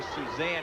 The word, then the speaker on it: Suzanne: She actually pronounces her name more Suzanne, even though it's spelled like Suzanne, and she is the NCAA 400-meter champion.